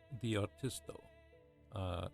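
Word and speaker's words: D-R'TisT-O: It's pronounced the R-TisT-O. It's basically saying the artist.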